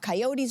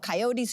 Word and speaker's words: coyote: And I was reading about coyotes who were running through the streets. And he came running out of his office and screamed and said, Grelo, it's not coyote, it's coyote.